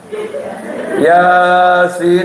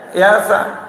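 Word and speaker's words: يس: Padahal itu bacanya alif lam mim, bukan alama. Nun dia baca nah. Yasa. Yasin dia baca yasa.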